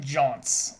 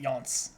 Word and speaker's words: Jaunts: I pronounce it Jaunts, alright? Only Xyrix pronounces it Yaunts.